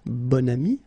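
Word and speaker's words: bon ami: adjective okay and then you pronounce it bonami when you make this link second example so same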